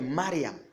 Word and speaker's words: Mariam: On va vous dire Marie, de l'hébreu, c'est Mariam. Et Mariam signifie goutte de mer. Vous voyez? Donc, ça veut dire que Marie, quand on a, en hébreu, quand on a la prononciation, c'est Mariam.